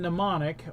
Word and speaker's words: mnemonic: damage acquires silent M the M is silent like the M in mnemonic or applause at the